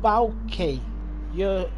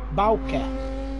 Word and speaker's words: Bauke: Dutch guy here, it's pronounced Bauke. So you're pretty close. The the AU is already spot on. Bauke.